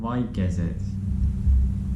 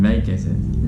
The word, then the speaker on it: väikesed: Vaikesed. Mida? Sorry? Vaikesed. No, I mean väikesed.